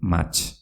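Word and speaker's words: mahats: ¿Y cómo se dice uva en euskera? Se dice mach. Repito, mach, con una TS.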